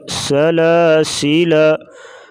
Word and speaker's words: سلاسل: وقف کریں گے لیکن سلاسل، یہ الف نہیں پڑھا جائے گا، سلاسل سلاسل وقفاً سلاسل، لکھنے